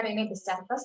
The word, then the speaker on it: René Descartes: Tulisannya René Descartes tapi bacanya René Descartes.